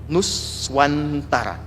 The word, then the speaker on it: Nuswantara: Besar Gajah Mada mendeklarasikan tentang konsep Nuswantara, yang kelak menjadi Nusantara, dibacanya kayak pakai tasydid kalau di bahasa Arab.